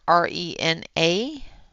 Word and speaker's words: Rena: Um, the feminine spelling of Renee is R-E-N-E, E, or R-E-N-A. Although if you put that in front of somebody that is more French, they will actually pronounce that as Rena, not Renee.